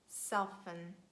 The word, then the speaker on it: soften: And they are asthma, Christmas, mortgage, soften. The word often can be pronounced in both ways, and we can say often or often.